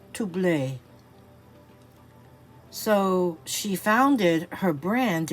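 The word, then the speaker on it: Troublé: last name is actually, in English you would think it said trouble, but it's actually spelled like trouble with the accent over the E, and it's pronounced Toublé.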